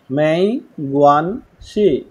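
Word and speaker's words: 没关系: দেখেন এখানে কি হবে, এখানে প্রথম যে অংশটুকু আছে এটা প্রোনাউন্সিয়েশন হবে মেই, মেই, গুয়ান, গুয়ান, গুয়ান, শি, মেই, গুয়ান, মেই, গুয়ান, গুয়ান, শি, দেখেন গঞ্চি সি এটা কেমনে বলেন সি হ্যাঁ মেই গুয়ান সি মেই গুয়ান সি টোনের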